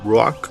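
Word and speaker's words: רוח: If we take a look at one of the different terms for spiritual chills, ruah, pronounced in Hebrew ruach, it is the Hebrew word translated as Spirit of God.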